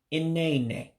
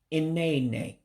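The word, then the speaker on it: nnenne: Again, this is one of the words when you come to another way of saying grandmother that you blend the two words together. So this would be inene, inene, grandmother.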